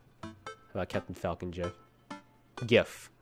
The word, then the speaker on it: GIF: GIF. That's the way it's pronounced.